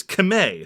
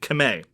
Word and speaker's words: Khmer: pronounced that way and the only reason why we say khmer is a legacy of french colonialism qvr stands on colonialism and the way the word is actually said is kame so k-h-m-e-r is routinely